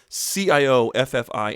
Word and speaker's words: Cioffi: This is Cioffi, rhymes with coffee, Cioffi.